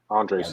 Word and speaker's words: Andres: Am I Yep, pronouncing that correctly? exactly. Andres.